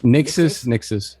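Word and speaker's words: Nixxes: Nixus? How you pronounce it? So? Nixus.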